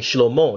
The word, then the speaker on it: Shlomo: So for example, when Solomon, King Shlomo, that's the right pronunciation, was the king of Israel, he abused his position as king, and that's when God had a problem with him.